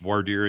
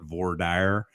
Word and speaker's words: voir dire: r e to speak the truth um it's pronounced varder in Connecticut out west they call it V dire um I don't know how it's done in